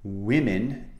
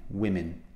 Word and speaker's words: women: even though mm spells the plural of men women is a different sound we're Minh okay the vowel sound is the same women I hear many people pronouncing this incorrectly so